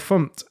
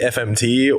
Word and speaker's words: fmt: something and I and I say the fum package for example which is you know it's people kind of look at me sideways I'm like yeah I know I know just Just go with it right because if you if if you say instead if you say fmt or or format God forbid like you know Gophers are going to look at you a little weird Just Go With It